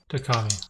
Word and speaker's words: Takkami: It's spelled Takkami. Takami.